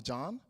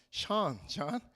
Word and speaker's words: Sean: Sean. Oh, John? Sean.